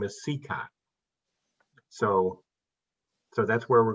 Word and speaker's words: Cicotte: straight right from the beginning his name is pronounced sika in field of dreams they call him sakoti his teammates would call him everything every pronunciation